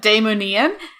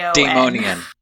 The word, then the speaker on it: Daimonion: out of my head, Daimonian, and that's Daimonion. Daimonian. Just completely fumbled that. Not anyway. Yeah, not Daimonian.